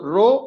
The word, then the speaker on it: rho: the greek letter rho so it should be pronounced with the letter rho so rho which is equal to mass over volume the